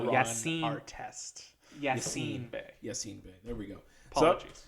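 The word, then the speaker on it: Yasiin Bey: Yassine Bey.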